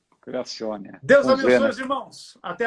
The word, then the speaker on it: Creazione: Creazione, que se pronuncia Creazione. Criazione.